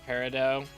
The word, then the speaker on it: Peridot: Technically, it's pronounced Peridot.